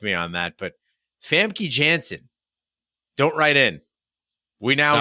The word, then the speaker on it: Famke Janssen: would you would correct me on that but Famke Jansen don't write in we now know yeah I